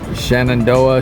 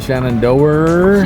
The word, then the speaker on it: Shenandoah: Shenandoah Shenandoer Shenandoer Shenandoer Shenandoah Like everybody says it a little different.